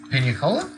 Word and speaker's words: Pinicola: I live in credible Penny oh it is Penny Cola I think I'm reading it but I'm not sure I'm pronouncing it correctly um yeah and you need to go there Pina Cola yes and then from there eventually to atlas